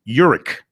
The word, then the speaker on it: Urich: Also, quarterback I was working with him on his last name pronunciation last night. Urich, that's what he says.